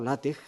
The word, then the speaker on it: LaTeX: Pero en principio, que efectivamente, retomando la manera como ha empezado Elena, efectivamente LaTeX nace, o LaTeX, la pronunciación correcta, nace en los años